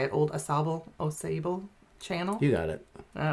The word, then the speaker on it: Sauble: That is not the Saugeen River, it's the old, how do you say it, old Sauble channel?